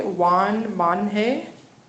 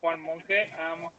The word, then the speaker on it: Juan Monje: Juan Monje. You did it correctly. I'm Juan Monje.